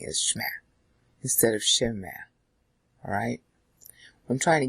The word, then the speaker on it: shema: Now, in the old days, they used to say shema, shema, and today they say shma. Alright, the typical Jewish way of saying it is shma, instead of shema.